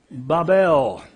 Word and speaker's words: Babel: of his kingdom was babel that's a long a sound bible and eric